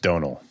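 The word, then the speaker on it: Domhnall: to pronounce his name it's apparently just donal he don't pronounce it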